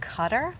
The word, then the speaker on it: Qatar: It's actually pronounced Qatar. Oh, it is Qatar.